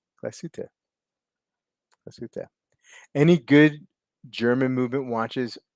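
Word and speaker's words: Glashütte: could be better uh he did better the second time uh three syllables glasuta glassuto any good German movement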